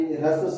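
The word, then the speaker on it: ह्रस्व: पहला रस स्वर, इसको बहुत आदमी हरस स्वर बोल देते हैं, तो वैसा नहीं बोलिएगा। इसका शुद्ध उच्चारण जो होता है रस स्वर, दीर्घ स्वर, प्लुस स्वर।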